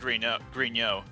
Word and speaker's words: Griknot: Is Griknot French? It's supposed to be pronounced Grignot, but Yeah, we but- just always pronounce it Griknot.